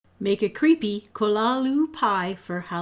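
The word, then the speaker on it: Cthulhu: HP Lovecraft and some people call this a cthulu but apparently it's supposed to be pronounced kolalu so here we go hello everyone starting off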